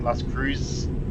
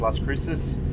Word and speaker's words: Las Cruces: got Las Cruces, Cruces, which doesn't the way it's spelled, it sounds like Las Cruz. but I know that it's actually pronounced as Las Cruces.